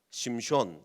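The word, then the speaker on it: שמשון: 되서 3선 영화를 만든다면 그 삼손의 원래 발음은 뭐라고 그랬죠 히브리어로 심 숀 이렇게 됩니다 심 숀 그래서 제가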